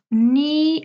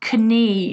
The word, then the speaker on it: knee: fingers and a thumb knee and knuckle we have silent K's it's not Kenny it's not canuckle silent